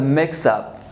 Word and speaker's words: mix up: Here, we're sorry about the mix up.